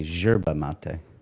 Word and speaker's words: yerba mate: In Argentina, they say yerba mate.